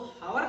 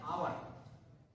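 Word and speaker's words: hour: अभी देखिए ये जो आर है ना, HUR, इसको हावर नहीं पढ़ते। ये लोग क्या करते हैं? इसका प्रोनाउंसिएशन हावर करते हैं, तो वहां पर वो मिस्टेक होता है। प्रोनाउंसिएशन आपको बिल्कुल सही जानना है। जो हावर नहीं होता, ये होता है आवर।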